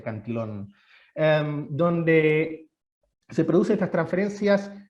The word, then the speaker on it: Cantillon: efecto cantillon o anti son como con doble l pero se pronuncia canción donde se produce estas